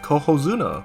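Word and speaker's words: Cohozuna: care then we have coo Zuna which rhymes with Yokozuna and how does that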